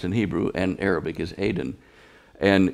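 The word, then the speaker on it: Aden: Aiden, Adn, which is really close to the pronunciation of Eden. Yes. It's the way it's pronounced in Hebrew and Arabic is Aiden.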